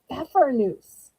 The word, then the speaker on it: Pfeffernuss: They are called pfeffernuss. And I'm sure some of y'all are saying, wait, the P is silent?